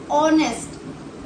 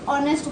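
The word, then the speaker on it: honest: ऑनेस्ट में भी H silent है। साउंड किसकी आ रही है? ऑनेस्ट। ओ से साउंड निकल रही है। ठीक है? एच साइलेंट होने की वजह से ओ से साउंड निकल रही है। ऑनेस्ट बोलते हैं हम।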